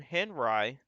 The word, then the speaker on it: Henri: we also got a tropical storm henry that's actually the right way to pronounce this so a head drying